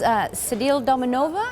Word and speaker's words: Sedile Dominova: This is Sedile Dominova?